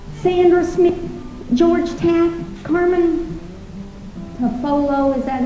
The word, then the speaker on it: Tafolla: He said, Tafolla. The double L in Spanish is pronounced like a Y. And she said, oh, I get it, like tortilla and mantilla.